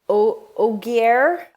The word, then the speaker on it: Ogier: so yeah oh oh it's it's very close to ogre right like oh and that's